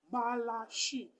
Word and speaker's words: Malachie: Marc, Malachie, la dernière syllabe, c'est chi.